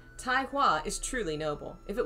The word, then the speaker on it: Tai Hua: taiwa is truly noble double guessing all my pronunci tai okay so i was right it's tai sometimes i'm right tai hua is truly noble if it was him he